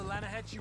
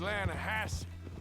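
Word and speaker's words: Lannahechee: wrote down to the Lana Hetchy River I caught some beautiful steelhead trout mainly Lana no no no the Lana hatch runs right near here yeah but it's pronounced Lana Hass why is everything in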